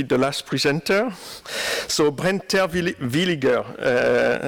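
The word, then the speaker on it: Terwilliger: So, Brent Terwillinger, I'm German speaker, so I pronounce it the German way, is Assistant Professor Aeronautics, Program Chair of the Master of Science on UAS in Embry-Riddle.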